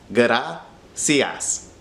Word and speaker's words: gracias: So slowly transition from gutta to gra. Then all you have to do is add cias at the end. Gracias. Smush it together a little bit closer. Gracias.